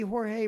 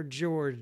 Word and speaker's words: Jorge: Jorge writes in, and sometimes I see Jorge pronounced as George nowadays. It's either Jorge or George, J-O-R-G-E.